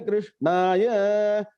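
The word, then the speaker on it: कृष्णाय: Prapanna parijataya totra vetraika panaye jnana mudraya krishnaya Gita duhe namaha. Om shanti shanti shanti. Please look at the pronunciation.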